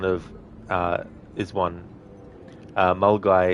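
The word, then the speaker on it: Milngavie: uh is one uh M guy is another that have a weird pronunciation yeah cuz um you look at the way that it's spelled and there isn't really much in it that would make you think it's m guy cuz you've got you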